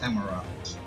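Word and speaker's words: Amaurot: That is how it's pronounced. Amarat.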